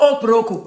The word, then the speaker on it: okporoko: It's called okporoko, and you better pronounce it like that when you're asking any Nigerian what it is.